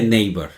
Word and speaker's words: Naver: En inglés se pronuncia Naver, ¿no? La A se pronuncia como ei, ¿no?